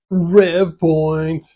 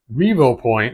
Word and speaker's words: Revopoint: have it on here rev Point actually you know what's funny I always called rev point but it's a Revo point and I always pronounce